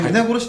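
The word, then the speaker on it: 鏖: ね、皆殺しって読むのか。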